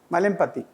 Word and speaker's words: Malempati: yes sir malati how do you say malati malati malati is my surname sir there is a